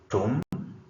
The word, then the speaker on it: tomb: B is not pronounced tomb. The word is tomb. B is not pronounced.